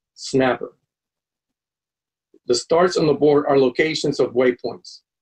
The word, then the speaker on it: SNAPR: For example, the spelling of the SNAPR departure is pronounced snapper.